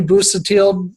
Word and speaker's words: Busuttil: Normally, I keep it to the Midwest, but I am with this man right here, Busuttil. did I pronounce that right?